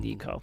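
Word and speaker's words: Neko: Nico Ne--Aetic pronunciation. Nico.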